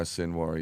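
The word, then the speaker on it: Sinwar: He was a hero of Sinoir. Is that how you say his name? Yeah. Yeah. Sinoir.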